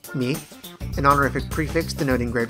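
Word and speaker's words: 御: The term consists of O, here pronounced mi, an honorific prefix denoting great reverence, and tsukau, which means messenger.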